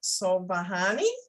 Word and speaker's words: Sobhani: writing and today we're interviewing Mona is it so bahani yeah am I close you got it oh